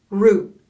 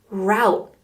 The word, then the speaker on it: route: can also be pronounced route so same spelling but a lot of people say route you can say root or route it just depends where you're from the path you take